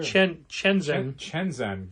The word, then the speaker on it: Chenxin: Right, but this is spelled differently but pronounced the same way. Oh, interesting. Chenzen. Oh, weird. Okay. Shenzhen is a city. It's true. Chenxin.